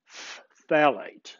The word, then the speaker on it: phthalates: phthalates and it's the weirdest word ever you spell it pH th a la te phthalates okay and that's something in almost every plastic